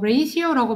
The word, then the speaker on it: ratio: 어, 그렇죠, golden ratio라고, 어, ratio라고 발음해요.